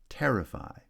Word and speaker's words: terrify: Terrify has stress on the first syllable.